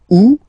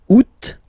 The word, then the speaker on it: août: Août. First option. Août.